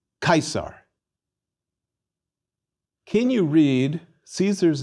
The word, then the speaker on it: Caesar: And we pronounce the C in Caesar like a K, Caesar.